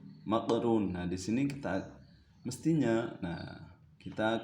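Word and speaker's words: مقرون: Bacanya mafruq, maqrun.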